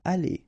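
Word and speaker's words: allées: aller, aller, aller, and aller. So technically you don't pronounce the final you don't pronounce the final s, and you don't pronounce the final es, but still you should write them.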